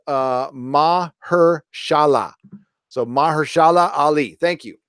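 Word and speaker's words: Mahershala: you Quintin Watts also new blades name is pronounced mah her Shahla so mashallah Ali thank you ma ma her shala uh I think it's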